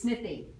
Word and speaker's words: Smithy: So so then, how is it pronounced? It's Smithy.